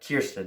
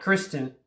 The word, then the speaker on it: Kirsten: great responsibility kirsten dunst i said it right kirsten not kristen kiersten kirsten dunst's mary jane watson